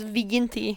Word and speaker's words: viginti: It's Viginti is how you pronounce it.